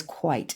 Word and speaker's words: quit: came from that and quit actually was probably pronounced as quite it was a long eye in those days so for centuries it